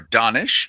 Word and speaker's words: Danish: We're talking right now to Danish Khan, or Danish in the pronunciation of Urdu, which I think is your original language.